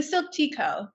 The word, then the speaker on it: Silk Tea Co: The Silk Tea Co.